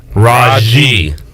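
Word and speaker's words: Rahjai: other facts other than first name is pronounced rajji now who's did did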